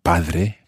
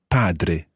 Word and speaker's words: padre: your padre padre okay it's a strong d in there and just like dormire padre if you've ever done spanish before don't let that spanish d influence your italian it's not padre but padre padre okay padre so